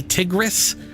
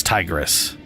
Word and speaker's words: Tigris: Or I say Tigris, but I'm pretty sure it's Tigris.